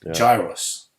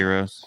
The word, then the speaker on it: gyros: Again, the original doner is called gyros. That's the original. Gyros. We pronounce it gyros. Yeah, it's called gyro, but gyros, gyros.